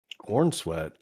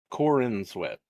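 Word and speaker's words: Corenswet: Cornsweet. Corin Sweat. I thought it was just cornsweet, but it's Corin sweat.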